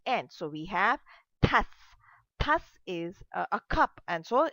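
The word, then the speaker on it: tasse: So we have tas, and though e is not pronounced in the end.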